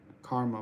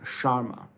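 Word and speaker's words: Shara: Curtis yeah M MMA you're saying Karma but it's pronounced Sharma like Pera says Sharma shama Curtis was angry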